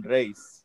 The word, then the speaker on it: Reis: Jeff Johns and Ivan Rice or Race. I think it's Oh man, Reese. that's Ivan Reese. Is yeah. how I. Well, the proper way to say it in Spanish, Ivan Reis, but I don't know